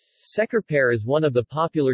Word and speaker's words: Şekerpare: thick lemon flavored sugar syrup Secor pear is pronounced shaker Perret in Turkish references see also Shekhar parrot checkerboard